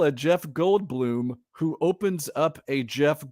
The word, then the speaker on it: Goldblum: I know, it's just Jeff Goldblum. That's all. But it's spelled Bloom. It's not Bloom, like BLUM. It's Bloom, not Blum.